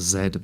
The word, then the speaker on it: Z: It's pronounced zed, by the way.